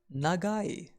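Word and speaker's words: 長い: We pronounce long as nagai.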